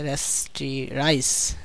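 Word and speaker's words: rasterize: rectangular shape এটাকে রেস্ট্রি এটার উচ্চারণ হচ্ছে রেস্টিরাইজ রেস্টিরাইজ রেস্টিরাইজ করে কিছুটা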